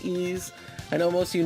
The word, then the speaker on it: Ys: And I I first I got to say my favorite game of all time is Ease Book one and two for the Turbo Graphics. Not Wise, but Ease is pronounced Ease.